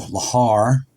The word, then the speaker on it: lahar: there although the original lahar I think that's how you say it evacuation drill is held